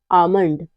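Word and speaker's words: almond: के बाद एम आता है तो एल हमेशा साइलेंट रहता है जैसे है काम पाम बाम और आमंड इन सब में क्या है इन सब में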